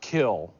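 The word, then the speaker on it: Kiln: re but it's Favre you grew up in a town spelled k i l n but it's pronounced kill mhm kill Miss Mississippi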